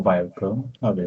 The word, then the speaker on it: Vioker: My name is Bio or Bio pronounce it.